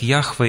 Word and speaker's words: Яхве: передано четырьмя согласными буквами по русски эти четыре согласных буквы можно произнести как Яхве или ха вха Вот такое имя из